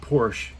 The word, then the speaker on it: Porsche: And when the Porsche, sorry, I almost said the American stupid Porsche, it's 2 syllables, Porsche. If you can't do the sh, come on.